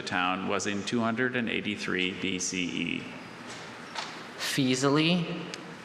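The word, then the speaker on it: Faesulae: Fisali? Fisali. Any alternate pronunciations?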